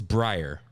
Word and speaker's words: Brer: Like the way it's Briar.